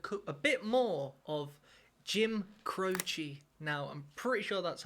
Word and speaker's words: Croce: On today's episode, ladies and gentlemen, I'm going to be doing a a bit more of Jim Crochi. Now, I'm pretty sure that's how you pronounce it because one of our subscribers by